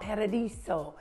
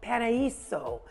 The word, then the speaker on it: Paraíso: So today we were talking about Paradiso. Oh, I said it wrong. Paraíso Grande. You like it?